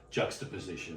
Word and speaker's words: juxtaposition: A combination or juxtaposition would be another good word. Ooh, juxtaposition. Just pull that word out of my thesaurus. Yeah, your thesaurus. Try. You put the emphasis on the wrong syllable.